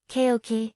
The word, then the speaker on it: cocci: bacteria round and compact cocci pronounced keoki bacteria are like the